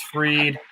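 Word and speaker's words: Fried: I got Max Freed.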